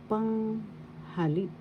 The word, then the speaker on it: panghalip: Panghalip. Panghalip. First syllable pang, second syllable ha, third syllable lip. Panghalip. Panghalip. The third syllable has the accent, and some could always say as well the first syllable.